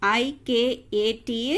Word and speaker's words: Ikat: So the pronunciation of I-K-A-T is Ikat.